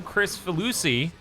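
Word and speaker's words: Kricfalusi: we were talking about John Chris velu see which is how it's actually pronounced which is the creator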